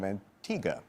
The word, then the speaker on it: Antigua: We frequently give away trips, as we did tonight, to the island of Antigga, but when you look at it, it looks like it's Antigua. It's spelled that way.